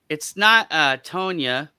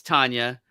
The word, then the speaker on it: Tanya: It's not Tonya. It's Tanya.